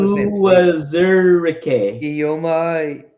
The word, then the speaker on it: Uwazurike: Yeah, pronounce the same, please. Uwazurike. Ioma Uwazurike.